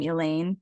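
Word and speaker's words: Alain: a W but I do know that you pronounce his first name Elaine his wife and I think he had two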